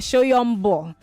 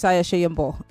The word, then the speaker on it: Soyombo: My guest uh um Visayiah Shyombo. Somebody had to pronounce this your name. I used to call you Shyombo. They said it's Shyombo.